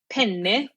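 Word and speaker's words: penne: you that don't know, like pen, two N's, P E N E is the type of pasta. But if you don't pronounce that double N, then all of a sudden you have a male appendage.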